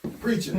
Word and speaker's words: Preacha: So, Preacha, that's how you say it.